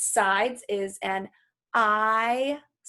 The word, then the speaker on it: isosceles: Another name for a triangle based on its sides is an isosceles. Please say that with me. Isosceles. Okay, multiple syllables.